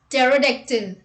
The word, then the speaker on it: pterodactyl: P is not pronounced at the beginning of many words using the combinations PS, PT and PN. Let's look at the example. Psychiatrist, pneumonia, pneumatic, psychotherapy, psychotic, psychologist, pseudonym, pterodactyl.